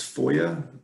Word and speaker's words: FOIA: your services uh foa so foia is pronounced foia and basically any record